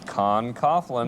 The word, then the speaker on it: Con Coughlin: guests Saddam author how do you say it Con Coughlin there you go and why don't you admit